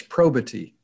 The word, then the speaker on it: probity: toastmaster thank you bob i believe you're putting one extra syllable in the word so let me give this a give this a try i believe it's probity three syllables correct right the other